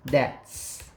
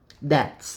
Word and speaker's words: debts: Eu acho que o B não é pronunciado, debts. Deixa eu me ver aqui a pronúncia. Debts, isso mesmo. Observe aqui, ó. Soa como debts.